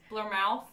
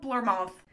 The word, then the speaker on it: Bournemouth: Bournemouth. It's spelt Bournemouth. If you slur the end and add a British accent, then, like, you'll be fine and no one will know the difference.